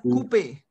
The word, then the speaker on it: coupe: We have OU sound is OO. OU sound is OO in French. OO. OO. Repeat after me. OO. OO. OO. So we have coupe.